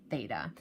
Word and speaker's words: theta: a horizontal line through it and that is pronounced as theta is used to represent the angle so the